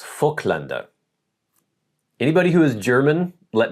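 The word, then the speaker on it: Voigtländer: And even this lens, I got this uh fllander as they as I believe it's pronounced in German.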